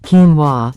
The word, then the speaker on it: quinoa: Quinoa, pronounced quinoa, originates from the Andean region of South America, cultivated for over 5,000 years.